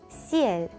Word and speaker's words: ciel: 자, 이거의 정확한 발음은 CL. CL. CL.